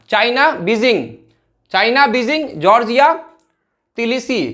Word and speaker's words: Tbilisi: Georgia तिलिसी, इसको तिलिसी पढ़ेंगे, तिलिसी, B silent है यहाँ पे, TBILISI, जॉर्जिया तिलिसी।